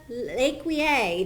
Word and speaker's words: LeCuyer: I am here with Maria LeCuyer. Did I pronounce that awesome.